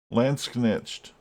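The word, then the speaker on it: Landsknecht: Lance Knetched.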